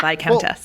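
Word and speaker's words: Viscount: clearly don't watch Bridgerton it's the by count VI Countess but it's spelled v so I don't know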